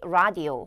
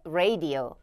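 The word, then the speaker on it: radio: 하는 구간 니에요 여기는 많은 분들이 라디오 혹은 뭐 레디오 요렇게까지 발음을 하시는데 여기는 발음 하실 때 레이디오 오라고 조금 더 길게 끌어 주시면 되겠고요 자 그다음에 여기 here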